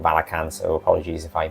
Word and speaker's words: Valachan: it released it in Valachan. I accidentally say "Vala-chan" - again, the whole "Rick-ten"/"Rich-ten" thing, I called it "Vala-chan" long before I realized it was called "Vala-can," so apologies if I mispronounce that (constantly).